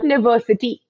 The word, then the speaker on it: university: University in London now students you might think that because University starts with the U we are going to be using our article and but students let's repeat the word to ourselves right you University which means the starting sound of this word students is the year